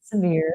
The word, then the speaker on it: Sevierville: I said, you pronounce it Severe, not did they Seaver.